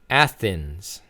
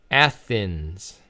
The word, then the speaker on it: Athens: So again, the pronunciation is Athens. Athens.